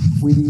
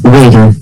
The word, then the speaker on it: Weder: Do I say Weed? Weedy? It's Weder. Weder.